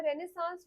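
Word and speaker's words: renaissance: Again इसका pronunciation बहुत बच्चों को मुश्किल लगता है। रेनेसांस बोलते हैं इसको।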